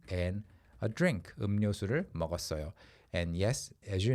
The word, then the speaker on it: 음료수: It's pronounced as 음료수, okay? Because mium and then 리을 together, it's really, really hard to pronounce accurately when you're saying it quickly. 음료수, it's too much effort and it sounds forced. So you go 음료수.